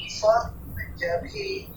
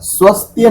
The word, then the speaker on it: स्वत्य: बस थोड़ा सा एक स्थान पर स्वत्य स्वत्य, स्वस्त्य नहीं करेंगे, स्वत्य। इसमें अर्ध सकार नहीं लेके आएंगे।